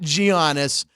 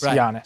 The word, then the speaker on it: Giannis: yanis onto TMO not gianis Chris Andrew I pronounced the Greek name right our sports book director is Greek so uh I got lectured when I said gianis it's Yan Jan yes yes jannis speaking of Giannis an